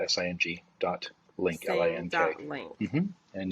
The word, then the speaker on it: Sing: So sing, just the way it's spelled or sound, SING dot link, LINK.